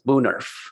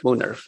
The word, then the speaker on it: woonerf: Thanks for asking, because a lot of people have been mispronounced. It's Woonerf. Woonerf? Woonerf.